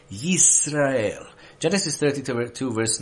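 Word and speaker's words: ישראל: you want me to pronounce it in Hebrew, Yisrael.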